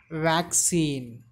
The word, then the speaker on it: vaccine: The stress should be given on very first syllable.